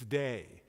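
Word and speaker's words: Dei: By the way, do you know the Latin word for God? It's day. Do you know how to spell it? D-E-I.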